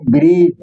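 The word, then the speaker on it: bridge: ध्यान में रखो हमेशा, जब भी डी और जी एक साथ लिखा रहेगा तो डी का उच्चारण साइलेंट रहेगा।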